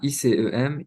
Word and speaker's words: ISEM: récemment cofondé donc l'association ISEM c'est comme ça qu'on prononce c'est c'est ICEM initiative au pluriel pour